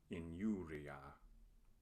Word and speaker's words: injuria: When I occurs before another vowel, it is not a vowel but a consonant. It is pronounced like the consonant Y in English. Injuria.